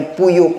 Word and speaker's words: PU Yeop: Haji sebut puyuk kan? Tulis dekat sini P-U-Y-E-O-P, puyuk. Bukan macam tu bacanya haji, dia kena berhenti P-U-Yuk.